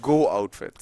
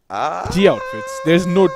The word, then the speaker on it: GO Outfits: Or is it Go Outfits? It's G Outfits. It's not GOO. It's only GO. No, maybe the other O is silent. It's a part of that O. You know how logos are. It's invisible anyway, but nonetheless, it's called G Outfits.